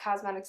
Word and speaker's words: Qosmedix: items that i picked up from cosmetics uh cosmetics is spelled q-o-s-m-e-d-i-x dot com and they are one